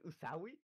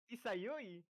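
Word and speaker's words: Izayoi: Wait, how did you pronounce it Izawi? Yeah, Izawi. It's Isayoi.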